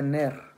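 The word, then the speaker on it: נר: Se dice Ner.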